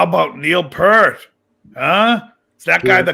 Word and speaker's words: Peart: I'd be like, you're pronouncing his last name wrong, first of all. I know it's Peart, but they always say Peart.